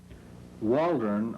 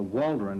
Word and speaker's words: Waldron: waldron or waldron as we now pronounce it originally settled at dover